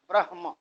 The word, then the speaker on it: ब्रह्म: ब्रह्म जब कहते हैं तो ब्र और ह के बाद में म आधा जैसे दिखाई देने लगता है तो म पूरा है और ह आधा होता है ब्रहम ह पहले आएगा उच्चारण म बाद में आएगा इसी तरह से त्रय